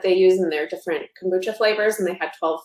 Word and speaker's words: kombucha: i know i'm gonna say it wrong but kombucha oh yeah you said it right okay good